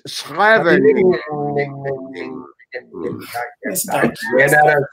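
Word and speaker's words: Scheveningen: Schreveningen. it doesn't stop. Dutch. It's Schreveningen. I ran out of syllables.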